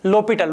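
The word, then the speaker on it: L'Hôpital: 0/0 form बनते ही अपने पहले दिमाग में आना चाहिए l'Hopital रूल, ठीक है। इसको लिखते हैं एल हॉस्पिटल, फ्रेंच वर्ड है, पहले भी मैंने बताया। इसका वास्तव में जो प्रोनाउंसिएशन वो होता है l'Hopital रूल, ठीक है।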